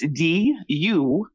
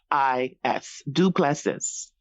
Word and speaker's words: Duplessis: so good at spelling, how do you spell Duplessis? Absolutely. And I was about to spell this good old South Louisiana last name. So it's Duplessis, Duplessis.